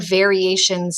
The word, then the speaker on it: variations: The last word is the word variations. Say the word variations. Good. Let's spell it. V-A-R-I-A-T-I-O-N-S. Variations. That shun comes from the T-I-O-N.